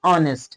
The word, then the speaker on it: honest: Here we have to learn that H is silent here, यहाँ H silent है, H पढ़ा नहीं जा रहा है, ये honest नहीं है, ये honest है।